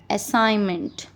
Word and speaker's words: assignment: Make sound of sound is used in word assignment.